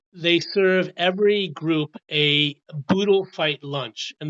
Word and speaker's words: boodle: boodle fight lunch and that's spelled b o dle e a boodle fight lunch basically this means oodles and oodles of food it doesn't they didn't name it boodle to rhyme with Ood but it does and the food is